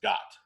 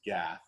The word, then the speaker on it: Gath: And they'd settled in three cities, one of which city was Gat, which we pronounce as Gath, because that's how it looks in English.